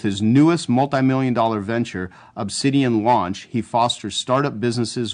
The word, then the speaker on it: Obsidian: get rich right approach now did i say obsidian correctly because i've always wondered about that you nailed it that's exactly how it's pronounced see i'm not as dumb as i